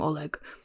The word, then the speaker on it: Oleg: I know it's a soft G. I had a friend named Ola and it was spelled with a G. And I know the G in Russian is like a soft G sound. A sound we don't have in English.